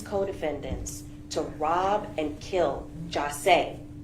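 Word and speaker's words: Jahseh: The plans that were hatched by these co-defendants to rob and kill Jase, his name is pronounced Jase, Onfroy, was hatched in hell, and the witnesses are who they are.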